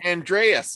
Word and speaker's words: Andreas: Isn't that Andreas? Okay, I said it right.